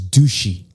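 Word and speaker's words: dushi: really funny but like their word for cool is douchy like it's spelled D sh I so everywhere you go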